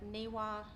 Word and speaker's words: NIWA: I came across um I may not pronounce This Acronym correctly but niwa NWA yes yes that's it so they have a